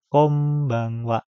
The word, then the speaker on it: konbanwa: Oke, selanjutnya yaitu konbanwa. Ini kemarin sudah kita pelajari huruf N ketemu B itu bisa dibaca dengan konbanwa. Langsung menggunakan M.